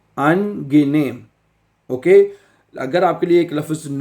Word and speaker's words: angenehm: ठीक है, angenehm। Okay, अगर आपके लिए एक लफ्ज़ नया है, मुश्किल है, तो जर्मन लफ्ज़ को प्रोनाउंस करना बहुत आसान है।